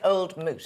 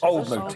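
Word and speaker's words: Old Mout: So we pronounce it Old Moot. Old Moot, yeah, that's right. That's the Moot. Old Moot, yeah. Moot, I call it Moot.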